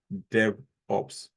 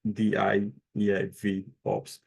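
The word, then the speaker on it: DevOps: to look into is the pronunciation of Dev Ops right because I think you can kept on calling it give up like d v Ops so please just look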